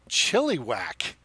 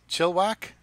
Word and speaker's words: Chilliwack: The E is silent. Chilliwack? So it's just Chilliwack. It's not Chilliwack.